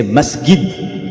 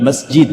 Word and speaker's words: masjid: many massid there many masid so they say masgid not masjid because instead of g they pronounce G not J G.